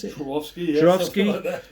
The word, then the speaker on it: Swarovski: And much more recently, the Swarovski, is that how you pronounce it? Swarovski, yeah.